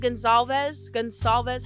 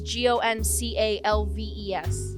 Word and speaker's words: Goncalves: Madison Mogan and Kaylee Gonsalves, however you pronounce the last name, were at a bar from about, no, it's Goncalves.